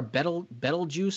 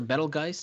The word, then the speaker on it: Betelgeuse: You look up like a comparison, if you will, to the star Betelgeuse or Betelgeuse, depending on how you pronounce it.